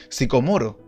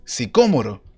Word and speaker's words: sicómoro: La palabra ahí no es sicomoro, sino que es sicómoro. Así está escrito el término. A ese tipo de árbol se subió Zaqueo, no a un árbol sicomoro, sino que a un árbol sicómoro.